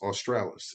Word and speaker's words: Australis: in the north and Aurora I believe is pronounced Australis in the south ah yeah